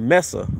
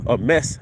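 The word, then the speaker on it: meze: serve a lot of the dishes something called mesa a mess i think this is how you pronounce it m-e-z-e and it's basically a small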